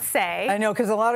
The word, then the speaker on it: Saie: good for our skin and the company's called say spelled s-a-i-e yeah but pronounce say I know because a lot of people were saying PSY and it's pronounced say which means what to you what's the message